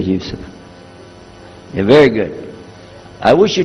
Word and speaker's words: Yusuf: Yousef did you say Yousef let me say Yousef very good I wish you teach my wife she keeps mispronouncing it she calls me useless alhamdulillah now how many of you were in